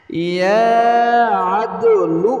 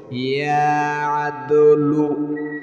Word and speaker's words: ইয়া আদলু: ইয়া আদলু বলেন, বলতে হবে, না বললে সহি শুদ্ধ হবে না। ইয়া আদলু, ইয়া আদলু, ইয়া আদলু।